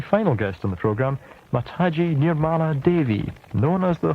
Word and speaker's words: Mataji: Mataji, welcome to the program. Thank you. I hope I pronounced your name correctly.